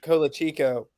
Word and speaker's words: Colacicco: It's Colacicco.